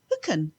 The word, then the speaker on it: Thugainn: And the track is, now it's spelled THUGAINN, and I think it's Hooken.